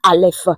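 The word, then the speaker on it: אלף: La première lettre de de l'alphabet hébraïque se dit ALF.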